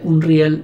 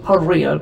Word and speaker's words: Unreal: me di cuenta que yo siempre lo pronunciaba mal, porque yo decía Unreal y en realidad la forma correcta de pronunciar esto es Unreal, como vi que dicen todos.